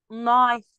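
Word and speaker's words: knife: لما بتيجي في الاول الكي تمام الكي ازاي انا عندي ني ناخد الني الناحيه التانيه انا عندي الركبه ني يبقى انا طاقتي ايه الان عندي نايف اللي هي السكينه ناف انا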